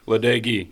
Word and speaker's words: LaDage: for your Beavers, is football recruiting coordinator LaDage. Did I pronounce it correct? LaDage, you're close enough.